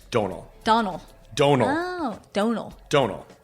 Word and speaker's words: Domhnall: It's Domhnall. Domhnall. Domhnall. Oh, Domhnall. Domhnall. I can't say that. You can say donate. So Donate Domhnall.